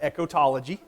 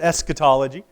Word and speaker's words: eschatology: so this is as luke called it echotology john moore i think would pronounce it eschatology and john morris who's